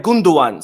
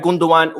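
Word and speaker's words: Gündoğan: news because today ilkai gunduan by the way I can't remember who but someone mentioned on the video yesterday that it's actually pronounced gundogan because the g is silent in Turkish the G with the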